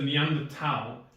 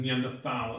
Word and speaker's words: Neanderthal: I think he even went to as far as addressing it specifically, but he said Neanderal is the way you correctly say it and Neanderthal is the incorrect way.